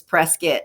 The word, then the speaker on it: Prescott: and you want to it's spelled prescott but the locals it's prescott like this yeah you don't want to be you want to see his local say prescott um so that's the